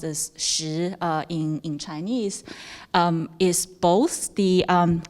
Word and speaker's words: 石: And the subject of stone or rock, which is pronounced as 石 in Chinese, is both the abstract concept, the